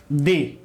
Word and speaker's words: the: इसलिए इस THE का उच्चारण मैंने क्या किया? मैंने किया दी। क्या किया? दी। इसलिए इसे हम पढ़ेंगे दी एंड, ठीक है।